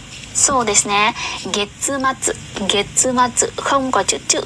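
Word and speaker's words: 月末: Cuối tháng đọc là gì ạ? So desu ne. Getsumatsu.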